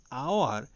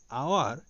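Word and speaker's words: hour: যেমন এক্সাম্পল হিসেবে he spent an আওয়ার ইন the platform. এখানে আওয়ার এইচ এই লেটারটি দিয়ে স্টার্ট হয়েছে, কিন্তু এইচ এর উচ্চারণ হয়নি, ভাওয়েল উচ্চারণ আ হয়েছে, এই জন্য এর আগে আমরা এন বসিয়েছি।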